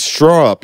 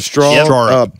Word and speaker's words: Straarup: South Africa and it's straw up you got to say like a straw up but but it's spelled starup but it's straw upw up everybody welcome straw up to the leader podcast